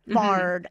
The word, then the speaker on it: Bard: call him The Bard and then we've got R there Bard arm car The Bard is another name for Shakespeare so we've almost got the same spelling b a r d w a r d you would think oh must be the same nope w a r d is always or just to kind of talk